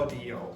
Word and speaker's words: audio: Okay, so some of you will pronounce this like ow, but in English this is aw. Audio.